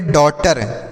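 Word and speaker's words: daughter: उसके बाद है TER तो टर हो गया तो इसे हम पढ़ेंगे डॉटर। क्या पढ़ेंगे दोस्तों, डॉटर पढ़ेंगे, इसे डॉक्टर, यहाँ पर GH साइलेंट है तो डॉटर हो गया।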